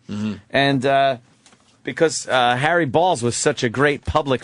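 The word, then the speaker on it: Baals: Yes, Harry Balls. And it's Harry Balls. It's spelled B-A-A-L-S. That's balls. B-A-A-L-S. Maybe go Harry Balls. The guy tried to change it to Bales.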